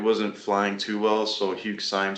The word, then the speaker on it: Syme: I'm sorry, let me find the designer oh, Hugh Stein. I'm probably pronouncing his name wrong.